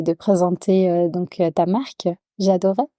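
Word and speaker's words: J'adorey: présenter donc ta marque j'adoris merci à toi est-ce que je le prononce bien déjà j'adoré c'est ça ok est-ce que tu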